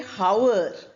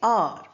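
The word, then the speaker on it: hour: We don't say how, we say R. Honor. H O U R is pronounced as R.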